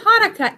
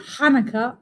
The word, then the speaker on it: Hanukkah: Actually, both Hanukkah and Hanukkah are right. The holiday's name is Hebrew, so there are different ways to spell it and say it in English.